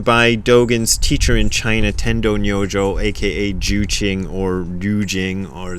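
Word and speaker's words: Tendō Nyojō: Sorry, Tendo Nyojo is how you pronounce his name in Japanese.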